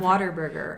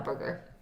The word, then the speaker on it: Whataburger: everyone Yeah, 'cause says I'm- Waterburger. And I'm Yeah. like, that's not what it is, though. I feel like that's my accent, though, is that's why I Yeah. say Whataburger.